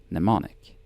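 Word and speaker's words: mnemonic: Same Greek root as the word nemonic. The M is silent.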